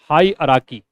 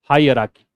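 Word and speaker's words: hierarchy: एक वर्ड होता है हाई अराकी। एच आई ई आर ए आर सी एच वाई। हाई अराकी। इसको क्या बोलते हैं? हाई अराकी।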